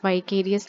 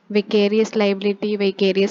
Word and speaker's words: vicarious: Topic है, that is वाइकेरियस liability. विकेरियस liability इसको कैसे भी प्रोनाउंस करते हैं, जिसका हिंदी में अर्थ होता है प्रतिनिधिक दायित्व या प्रतिनिधित्व दायित्व।